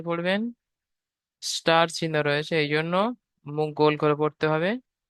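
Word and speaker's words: ظ: দুটো অক্ষরকে উচ্চারণ করার সময় মুখ গোল হয়ে যাবে, আর দুটো অক্ষরকে একালি করে টান দিতে হবে।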